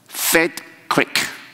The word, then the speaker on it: Feldkirch: 这个发音哈，叫做 Feldkirch， OK，我们照英文发哈。Anyway，就是这么一个城哈。